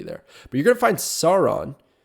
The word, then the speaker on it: Sauron: but you're gonna find Sauron I'm pretty sure that's how it's pronounced that's like the Lord of the Rings pronunciation uh but you're gonna find